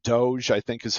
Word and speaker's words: DOGE: government efficiency I'm going to say it wrong Doge I think is how you're supposed to say it but uh cutting costs and its implications so the this this could impact the broader economy right because doge is is tasked with reducing government expenditures and